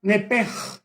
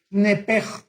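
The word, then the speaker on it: נפש: En el hebreo se pronuncia la sh como j. Nepej es la palabra alma en hebreo. Nepej.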